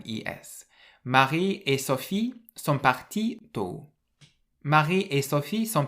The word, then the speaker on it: partis: you say ils sont partis tôt. Ils sont partis tôt, but you put an s on the end of partie. And again, this s is silent, but in writing you can see it.